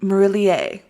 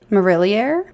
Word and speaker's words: Marillier: Waters by Juliet maroulier it's French marillier Morelia okay okay so if that pronunciation is not right I took two years of French in high school and that's been over 10 years so I tried marillier I think is how we say it but guys if you